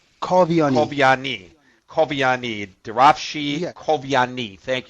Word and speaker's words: Kavian: forgive me uh draa Cavani is that right you you did the first part very nicely the last part is kavani kovani kovani kovani Davi kovani